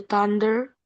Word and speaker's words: thunder: The weather is so bad and the thunder is roaring loudly. Heeh. Loudly. Betul. Dikit lagi. The thunder. Tadi the udah betul. Th-nya thundernya kelupaan bunyinya. Tadi bacanya bunyinya T. Thunder.